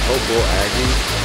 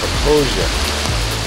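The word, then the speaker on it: Popo Agie: Some people call it the Popo Aggie. It's pronounced Proposia.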